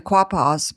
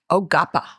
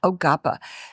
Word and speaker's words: Quapaw: So tell us about We call them the Quapas, but before the interview, you pronounced it correctly for us. How do you say Quapa in the name? Oapa. Oapa. Huh? Oapa. Ogapa.